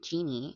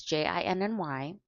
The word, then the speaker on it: Jinny: It's not Jeannie. It's not short for Virginia either. It's Jinny.